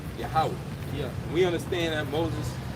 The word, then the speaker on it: Yahweh: Some people say Yahweh, some people say Yahuwah, So we say Yahweh.